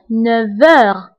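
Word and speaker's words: neuf heures: انتبهوا للنطق فقلت 9 heures. V. نطقت لا لتر V مع أنه ما مكتوباش لأنه عندي لا liaison entre F et H.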